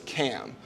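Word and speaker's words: CAUM: us rent a lot they charge us cam um and that and they spell it c-a-u-m and so that's common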